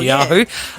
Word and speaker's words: Netanyahu: And in politics, weak Benjamin, is it Netanyahu? Is that how you say it? I think you said that well, Netanyahu.